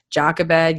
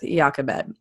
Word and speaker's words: Jochebed: Now, I will be honest, there are like three different ways you can pronounce her name, Jochebed, Jochebed, but I think we're going to go with Jochebed.